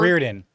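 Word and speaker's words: Riordan: Like a lot of people made a big deal out of I never know how to pronounce the author's name. Roydan, whatever. Oh, Reardon.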